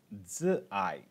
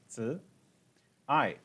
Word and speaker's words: Zi'ai: So the first one that we're going to do is a mantra called Zi'ai, and that is Mandarin, okay? Zi'ai is spelled Z-I, that's Zi'ai, simply means love, A-I, okay?